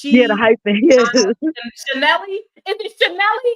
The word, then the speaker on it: Chanel: So whatever you say, Hollywood, that's how it's you pronounce her Chanel. name. Her name It's is Chanel. Chanel.